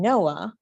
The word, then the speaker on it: Noa: is my top value you can say my name noah noa the way it's spelled means to be free